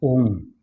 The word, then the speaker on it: Om: The actual pronunciation is A-U-M. So it becomes your mouth is open and closed, the sound is Om.